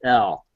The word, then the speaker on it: El: They won't say that, but in the text, the scriptures, they do pronounce it as El. The actual name El, which is pretty interesting.